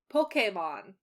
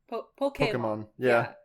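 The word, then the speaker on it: Pokémon: yeah it's it's like the way you're supposed to say Pokemon but no one says it it just say Pokemon Pokemon like there's a right and there's like an acceptable basically right right right right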